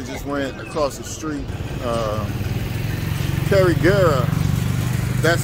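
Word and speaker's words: Carigara: Carriguera, that's how you say it.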